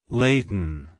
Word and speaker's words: Layton: Scotland it's pronounced as Laden Laden Laden to pronounce it correctly emphasize the lay sound followed by a soft t and on sound at the end like hello Leighton goodbye Leighton if you